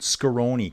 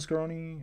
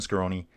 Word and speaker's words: Scaroni: So, Justin Case is asking, could Skonei, Christian uh Christian Scaroni, why am I got that name wrong? Yeah, Christian Scaroni.